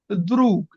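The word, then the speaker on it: друг: যেমন আমার আছে যে দ্রুক, লাস্টে যে জ্ঞা থাকে কিন্তু এটার উচ্চারণ হয় কে, দ্রুক।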